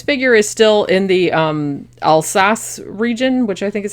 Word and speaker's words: Alsace: I said this figure is still in the Alsace region which i think is how you pronounce it like right around the also lorraine like right around with the french and german border so st.